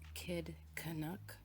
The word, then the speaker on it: Kid Canuck: The channel name, I believe you pronounce it as Kid Canuck. Kid as in K-I-D.